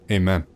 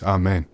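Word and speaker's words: אמן: not a great one Christians will say Amen in English pronounced amen but in real Hebrew it's amain not the best example but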